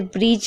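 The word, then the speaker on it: bridge: जैसे ब्रिज में आप देख रहे हैं, देखिए ध्यान से, डी है और उसके बाद जी है तो डी साइलेंट है।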